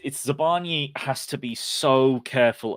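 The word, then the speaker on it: Zabarnyi: I think it's Zabani actually. There was I'm just remembering now that the Premier League puts out one of those videos they put out now and again where they get people to pronounce their names, and I think it's Zabani rather than Yi.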